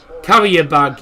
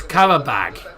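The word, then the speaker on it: Carabao: Carrier bag. Yeah, people a lot a few people call them carrier bag. They don't know how to pronounce it. It's carabag. Carab bag.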